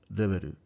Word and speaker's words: reberu: So to say this word, kind of start with your tongue placed up where I said, start it with there softly, and then try to say the word reberu, reberu.